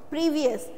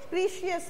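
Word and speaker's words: precious: प्रीवियस, तो प्रीवियस का मतलब होता है, प्रीवियस नहीं है ये, प्रीशियस है, ठीक है, प्रीशियस।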